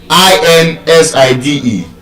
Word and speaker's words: inside: I n s i d e is not inside. It's not outside. You don't say she's inside. She's outside. The stress is on the second syllable.